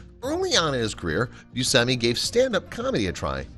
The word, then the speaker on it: Buscemi: For the first half of his life, Steve Buscemi pronounced his name Buscemi instead of Buscemi, but it wasn't until he